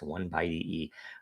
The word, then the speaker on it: 0x10E: is the 271st episode that is hex by the way and it's pronounced one by e um but 271 weekly